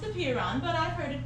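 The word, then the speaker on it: apeiron: beer oh my gosh okay like he thought a Prien it's actually pronounced appear on but I've heard it pronounced both ways okay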